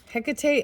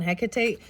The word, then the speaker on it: Hecate: okay and read what's coming through for you Hecate and I don't know how to say I